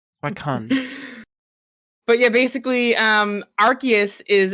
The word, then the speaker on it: Suicune: Anyways, it's obviously pronounced Suicune. Suicune.